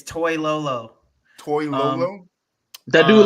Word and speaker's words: Toilolo: Toy You Lolo. said was it who? Lolo? No, Lolo? it's Toy Lolo.